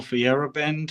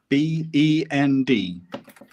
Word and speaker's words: Feyerabend: And if you're a very philosophical person, then you might want to check out Paul Feyerabend, who's the scientific anarchist who basically came up with the logical proof that science is a pack of lies.